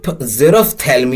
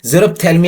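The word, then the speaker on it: xerophthalmia: 14th word is आवर 14th word is जेरो जेरो थैलम आवर 14th word is जेरो थलम या जिसका spelling हो गया एक्स ई आर ओ पी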